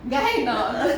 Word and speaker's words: Gehna: I know what it means, and I keep thinking, am I pronouncing it right? Try. Gehna. Gehna.